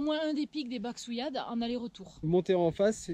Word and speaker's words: Baxouillade: Les pics de Baxouillade. Baxouillade. Bachouillade. Bachouillade. Donc il y a un X là-dedans. Tu peux le prononcer à la catalane.